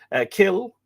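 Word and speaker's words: cill: Kill, C-I-L-L, or Kel, C-E-L-L, or C-E-A-L-L, Kiel, a church from Kella, originally pronounced Kella, K-E-L-L-A.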